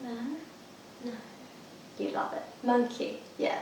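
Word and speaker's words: Monki: Monkey, have you ever been there? No. You love it. Monkey. Yeah, it's spelled M-O-N-K-I.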